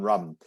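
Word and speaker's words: Rhum: There is they're making a distillery called Rum on Rum. Rum is spelled R-H-U-M, and the Isle of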